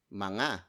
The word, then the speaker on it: mga: Mga, spelled as M-G-A. It's a contraction of the word mga, which is spelled as M-A-N-G-A, and then you add